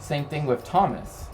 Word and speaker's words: Thomas: Same thing with Thomas, right? They put the H here to show that it's a hard T sound, not a soft one, so to speak.